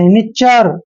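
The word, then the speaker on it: nature: ने करते हैं और टी यू आर ई को चर पढ़ते हैं देखिए चर च के बाद अ का साउंड आया है नी चर नेचर क्या पढ़ते हैं नेचर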